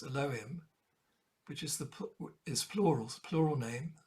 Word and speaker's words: Elohim: theme the twinship theme derived from Alim nowadays pronounced Elohim which is the is plurals plural name the